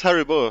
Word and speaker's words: Haribo: So I'll welcome in Haribo and Mrs. Haribo, or is it Haribo? I never know the right pronunciation. It's Haribo.